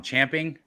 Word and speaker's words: champing: did I say Ron champing what is that a horse camping it is camping yeah we've everybody who's been saying chomping at the bit has been saying it wrong their whole lives uh like isn't the